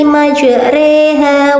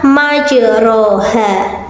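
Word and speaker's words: مجراها: Wa qala irkabu fiha bismillahi majreha wa mursaha. Inna rabbi laghafurur rahim. Shadaqallahul adzim. Nah, demikian bacaan imalah yaitu pada lafal majroha dibaca majreha. Mengapa bukan ri? Karena kita mencondongkan kasrohnya hanya 2/3-nya, jadi majreha.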